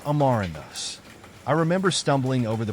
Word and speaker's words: amaranthus: growth stages how to pronounce amaranthus amaranthus is pronounced amarandos I remember stumbling over the pronunciation at first